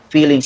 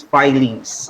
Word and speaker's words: filings: by the way alejandro it is not pronounced as feelings it is filings okay iron filings okay